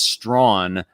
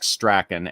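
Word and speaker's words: Strachan: okay so it so it it's pronounced it's pronounced strawn but it's it's spelled like strakin s-t-r-a-c-h-a-n so he only caught a couple of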